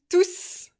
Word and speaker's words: tous: que dans ce cas-là quand c'est un pronom et bien on prononce le S vous avez entendu je les aime tous j'aime tous les T-Shirts